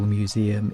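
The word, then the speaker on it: Mmuseumm: The next minuscule museum is called Museum. The extra M is silent.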